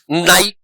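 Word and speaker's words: knight: नाइट में के का प्रोनंसिएशन नहीं होता है।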